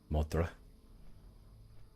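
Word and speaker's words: Dun Modr: then we will go up to D modra modra DM that's how you say it and then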